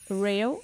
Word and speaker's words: rho: Right now the last one, it is called REO, which is for interest rates. And Rejo, I can't even pronounce the thing.